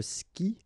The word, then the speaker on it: skie: Je skie. Okay, you get this I, and after that you get the vowel but then you don't pronounce it.